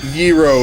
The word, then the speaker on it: gyros: so many ways I've heard them pronounced Gyros euro is the correct because it's Greek but you know whatever